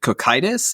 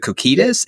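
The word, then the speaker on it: Cocytus: Is it cockitis? Is it coitus? Is it cacitus? I believe it's I believe it's cockatus.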